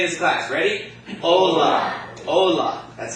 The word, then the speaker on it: hola: Therefore, the accent is going to fall on the second to last syllable, which would be the what? The O. Okay? So that word is going to be pronounced Ola. Not Ola, but Ola.